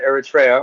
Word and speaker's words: Eritrea: But this is I don't know if you know anything about Eritrea, or Eritrea, some people pronounce it.